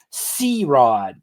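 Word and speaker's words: CeeRod: C-Rod, but it's spelled out, so a bit better. C-E-E-R-O-D, all one word.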